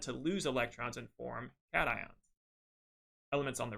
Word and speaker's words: cation: A positive ion is called a cation, not a cation. This is a cation. Think of an actual cats when you're pronouncing this, a cation, and this is an anion. It looks like anti, which sounds negative.